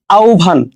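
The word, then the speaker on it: আহ্বান: জিউ ভাটা কিন্তু মাঝে মাঝে তোমাদের এইচএস উচ্চারণ আছে সেখানে কিন্তু আসে এই ধরনের জিনিসপত্রগুলা তার কয়েকটা ওয়ার্ড যেমন আভান আমরা কিন্তু আহবান বলি অনেকে এটাকে এটা কি হবে আসলে আহবান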